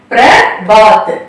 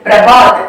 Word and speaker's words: प्रभात: லைனை நீக்கி எழுதுறோம் சோ இப் பிளஸ் ர பிர பிர நெக்ஸ்ட் ப அ பா இத் பாத் பிர பாத் பிரபாத் அதாவது அதிகாலை ஏர்லி மார்னிங் இப் ர பிர ப அ பா பிரபா இத் பிரபாத் அகைன் दिन रात सुबह शाम